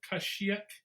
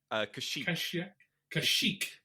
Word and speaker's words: Kashyyyk: I don't know how to spell his or pronounce his planet. Kashyyyk. Kashyyyk.